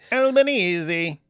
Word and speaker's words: Albanese: And then, oh, but you have to pronounce Albanese like an Italian. Albanese.